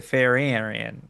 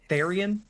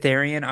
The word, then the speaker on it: therian: inside that you have, that is the Farian. I'm sorry if I'm saying it wrong. I think it's Therian. Is it Therian? Okay, thank you. But Therian, Therian.